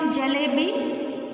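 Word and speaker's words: जलेबी: What is the spelling of jalebi? Ja plus la plus A की मात्रा symbol plus ba plus E की मात्रा symbol. This is a long pronunciation E.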